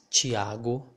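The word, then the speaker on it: Tiago: as well which is chiago see we have a ti so the letter uh this syllable here will sound more like ch chi okay but if if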